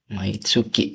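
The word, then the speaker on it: 毎月: Kariru niwa maitsuki ini ya maitsuki jangan myetsu mauki setiap bulan maitsukino nani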